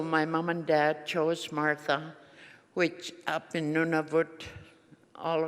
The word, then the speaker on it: Martha: So my mom and dad chose Martha, which up in Nunavut, all across Nunavut, it's pronounced Mata. We don't have an H in Inuktitut syllabics, so it's Mata.